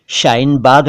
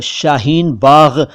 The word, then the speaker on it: शाहीन बाग: इसके अलावा कुछ लोग शाहीन बाग कहते हैं, लेकिन दरअसल ये सारे उच्चारण गलत हैं। जी हाँ, ये सारे उच्चारण गलत हैं। सही उच्चारण क्या है और शाहीन बाग किन शब्दों से मिलकर